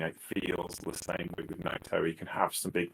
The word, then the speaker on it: Naito: This is like the people who pronounce Naito as Niter.